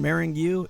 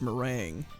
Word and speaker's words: meringue: do with the fact that i could never pronounce her name come on marrying you it's meringue yeah okay whatever marrying you let's go they're